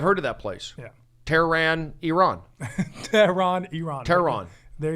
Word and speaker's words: Tehran: As long as it's not Tehran, I'm happy. It's Tehran. Tehran. In that mode of, I was named after the capital of Iran. I've heard of that place. Yeah. Tehran, Iran.